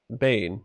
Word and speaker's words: Bane: social interaction amongst the bang bane not bang and no logical mechanism